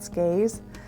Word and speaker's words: SCAIHS: It's called, they go by their initials, they pronounce it like a word, it's called SCAES, but it's the South Carolina Association of Independent Homeschools.